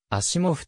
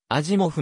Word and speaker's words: Asimov: 日本語ではアシモフとアジモフなどの表記揺れがあり前者が一般的ではあるが本人が望んでいたよ実は当社の発音に比較的近い永続 z メートル部位